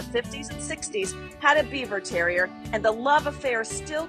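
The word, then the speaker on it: Biewer Terrier: Pronounced Beaver Terrier, these tri-colored pint-sized cuties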